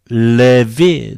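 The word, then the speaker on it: Λευί: Levi. Do you remember? A, epsilon together becomes a diphthong. So it is either F or Ev. It is followed by a vowel, naturally, Levi, Levi, Levi.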